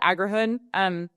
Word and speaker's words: Agrihood: um, uh, I call it Agrihood, but it's basically the agriculture, and then hood is a neighborhood.